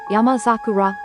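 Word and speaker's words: 山桜: When two words combine to form a new word, compound word, the phenomenon where the initial unvoiced consonant of the second word becomes voiced is called renaku.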